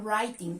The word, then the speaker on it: writing: es you are reading writing tú estás escribiendo recuerden que este verbo aunque empieza con una w la de pronunciación empieza en la r la w silent silenciosa o que hay otros